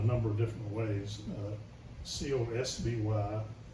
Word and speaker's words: Cosby: It's Cosbie, and of course Crosby gets thrown in there, the Crosbys, which still happens today, by the way. Yep. In school we were often mispronounced as Crosby, or asked if we were related to Bill.